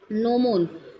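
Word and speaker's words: gnomon: उस इंस्ट्रूमेंट का नाम है नोमोन। नोमोन जी साइलेंट है इसमें।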